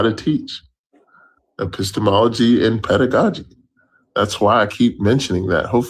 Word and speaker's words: pedagogy: What did I mispronounce? Epistemology? Pedagogy. And, It's pedagogy.